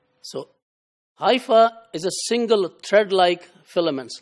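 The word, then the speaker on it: hypha: If you add e at the end becomes plural and is pronounced as hyi. So hifa is a single threadlike filaments like here and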